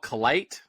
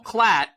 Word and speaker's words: Klatt: how to say his name is it Joelle clight Joelle Joelle oh Joe Klatt Joel clatt we know him he stole my bus I